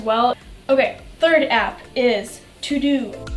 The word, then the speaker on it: Teux Deux: Okay, third app is To-Do. Now, this app is not spelled T-O-D-O like you would think. It is spelled T-E-U-X. D-E-U-X.